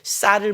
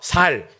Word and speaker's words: 쌀: 그 경상도 사람들이 쌀을 뭐라고 그래요? 살이라고 그러죠. 이런 거죠. 전라도와 경상도가 붙었는데 전라도가 이긴 거예요. 도망가는데 막아! 딱 하고 너 경상도에 아니야. 아닌데요? 쌀 해봐. 살.